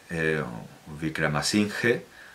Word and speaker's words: Wickramasinghe: La versión que aparece aquí en cingalés y en inglés es la versión de Rohan Wickramasinghe, lo voy a pronunciar a la española, Wickramasinghe, porque claro, ellos pronuncian la H, Rohan Wickramasinghe, en el